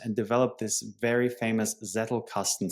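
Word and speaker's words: Zettelkasten: He wrote 70 books, 400 papers and developed this very famous Zetle casten system or Zetel casten, how you pronounce it in German, generating, you know, 300,000 citations to this date.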